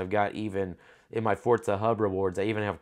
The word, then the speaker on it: Forza: my gaming channel they're like when I say fortza uh like it like I'm saying it how I'm saying it would be spelled like fo o r t Za a fortza uh fortza that's actually how you pronounce it